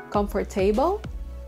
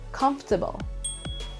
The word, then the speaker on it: comfortable: pronounce this word comfortable comfort table how it should be comfortable comfortable so just like the interesting we omit one of the syllables comfortable hindi comfortable it